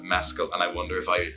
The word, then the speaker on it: Mescal: people get confused with how to pronounce my name because of the drink mezcal. Everybody does it. So I pronounce it mezcal, and I wonder if